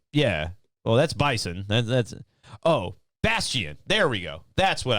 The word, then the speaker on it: Bastion: It's Byston. Baiston. I don't think that's how you say it, but no, BIAST. Stop. You sound retarded. I am, yeah. Well, that's Bison. That's Bastion.